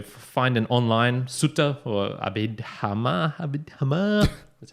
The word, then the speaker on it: Abhidhamma: So find an online sutta or abhidhamma. That's how you say it. Okay. That's how it's pronounced, people.